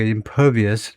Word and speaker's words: impervious: 발음은 그 두 번째 액센트가 impervious, 물론 통과하지 못하는 불침투성, 영향을 받지 않는 그 말입니다.